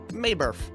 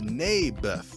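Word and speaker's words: Naboth: you mean nathan yeah that's what i said maeberf i think you're saying it wrong his name was neybeth ah bless you never mind nabith lived on a piece of land that was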